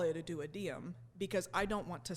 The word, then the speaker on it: duodenum: the intestine called, so the way that you actually pronounce it is duodenum. Okay. I call it a duodenum because I don't want to sound like a dwad, okay?